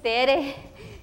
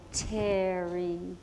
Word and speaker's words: Tere: And I say, "Hi, my name is Tere." And she say, "Oh, Terry." And I said, "No, Tere." She said, "No, Terry. No, Tere. Watch my mouth. Terry. Terry. See? No, it's Tere. It's pronounced Terry. No, it's pronounced Tere.